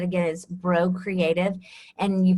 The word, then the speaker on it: Braud: is a very common way that my name pronounced so it's like the b r UD D yes translates as bro okay so it's French French cinjun and so